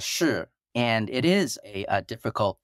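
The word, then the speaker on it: 势: Yeah, so this idea, and I'm going to pronounce it in the Chinese, but it's shi, and it is a difficult term to translate.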